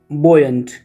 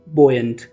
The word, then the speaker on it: buoyant: इसके अलावा एक वर्ड है बोयंट। इसका स्पेलिंग देख लेना, BUOYANT, बोयंट।